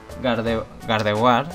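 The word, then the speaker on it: Gardevoir: que yo pronuncias mal gard war valeo en principio pronunciaba como la mayoría gente Claro pero ya llegó un momento que dije si su nombre en realidad se pronuncia como si fuera francés también me alegro de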